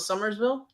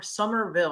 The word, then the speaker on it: Somerville: us about your ghost of Summersville summer Somerville I know I'm was saying it wrong no it's okay it's